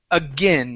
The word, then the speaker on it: again: So first up, we have the word again. So instead of saying again and using an A sound, it's a short I.